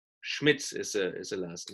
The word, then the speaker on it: Schmitz: How to pronounce my last name is very easy, actually. It's a typical German name, Schmitz. Schmitz is a last name.